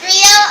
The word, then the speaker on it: griot: It's spelled G-R-I-O-T, but it's pronounced griot. The T is silent.